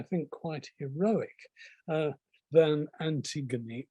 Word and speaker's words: Antigone: quite heroic uh than antigone or anti-ghani as she's pronounced in modern greek and antigone's name could